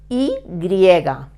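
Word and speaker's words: i griega: the why in English in Spanish we call this letter I write it e griega in Spanish this letter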